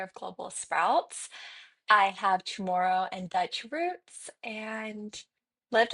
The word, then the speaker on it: Chamorro: And also, you mentioned you have Chamaru. Did I pronounce that right? Chamaru? Tomorrow. Chamorro.